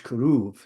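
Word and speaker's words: כרוב: So, for example, cherub in English is keruv. So it's pronounced as a V.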